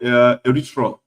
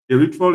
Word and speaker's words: erythritol: Now, the next one is called erythritol. Erythritol is spelled as ERYTHRITOL.